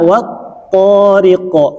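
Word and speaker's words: والطارق: Kalau di awal A-nya masih ada gitu. Kalau di tengah dua-duanya sudah hilang. Al. Jadi dibaca wat-thariq. Bisa dipahami? Jadi wanya enggak panjang. Ya, enggak panjang gitu. Karena ada tapi tidak baca.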